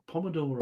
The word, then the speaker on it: pomodoro: Pomodoro. I know that. Oh, I was pronouncing poo.